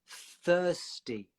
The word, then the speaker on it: thirsty: Pronounce I'm thirsty. Okay, so again, it's that th. Thir. It's like the. It's kind of similar. The. Thirsty. Thirst. So your tongue goes from between your teeth to inside and up to get the S sound.